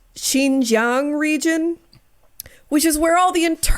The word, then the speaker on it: Xinjiang: This movie was largely filmed in, I think it's pronounced Xinjiang region, which is where all the internment camps are for the Muslims.